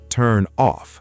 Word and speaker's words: turn off: The stress is often on off. Turn off.